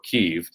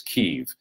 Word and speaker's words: Kyiv: Kiev, I guess, or Kyiv. The difference of that is the Russian pronunciation for that capital city is Kiev. The Ukrainian pronunciation of that city is Kyiv.